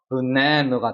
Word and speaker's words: banana: A가 무려 3번이나 있지만 강세는 여기 적용이 되기 때문에 우리가 생각했던 아 사운드가 있는 게 아니라 여기는 슈아 발음이 나는 거니까 으 사운드가 돼서 banana가 되는 거죠.